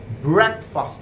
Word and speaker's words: breakfast: in the morning break though it smells like b-r-e-a-k you come under the impression that i'll be breakfast but this is not break but that is brac brad you know that black bank obviously yes you do sound like that like breakfast i take